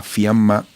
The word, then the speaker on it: Fiamma: Bueno, para conversar sobre este tema, tenemos vía Zoom desde Buenos Aires, capital argentina, a Fiamma Tognoli. Se escribe el apellido T-O-G-N-O-L y latina, y su nombre Fiamma con doble M, es analista internacional argentina.